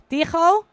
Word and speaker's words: Tigo: We need to remember that it's Dutch and that we need to pronounce the G like so it's Tigo.